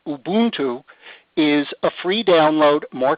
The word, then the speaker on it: Ubuntu: Linux is an operating system that you can download from the internet for free, and Ubuntu, or as it's properly pronounced, Ubuntu, is a free download, more coming in just a few moments.